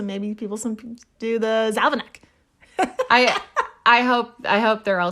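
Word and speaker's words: zavináč: So in Czech, the Czech Republic, it's pronounced závanek, meaning roll mop or pickled herring.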